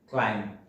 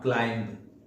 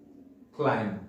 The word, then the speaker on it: climb: the next word is the b letter is silent in this world and the correct pronunciation of this word is climb not climb climb is the correct pronunciation the next pronunciation is